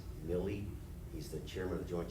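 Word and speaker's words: Milley: austin did uh general i think the pronunciation is milly he's the chairman of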